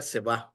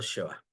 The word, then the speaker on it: שְׁוָא: Sheva se puede escribir con S-H-E-W o A, o sin H y solo diga Seba o Sheva. Indistintamente como la pronuncie, usted entiende que es el Sheva.